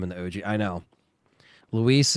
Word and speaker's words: Luis: Luis is more what I call him. I know Louis is like what I probably used to call him because Leon just would say that, but now I just call him Luis because that's what it is. I feel like Louis is like Louis from Left 4 Dead, you know? Like, this is actually spelled like Luis.